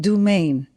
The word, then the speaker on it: Dumaine: Katrina Bruce, and today we have the pleasure of interviewing Brian Dumaine. Did I pronounce that correctly?